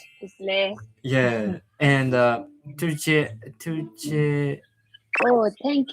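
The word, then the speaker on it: བཀྲ་ཤིས་བདེ་ལེགས: Toshidale. Tashidele. Toshidale.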